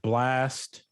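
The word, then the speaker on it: Blxst: You have Blast, but it's spelled as BLX. X is in X-ray, S is in Sierra, and T is in Tango.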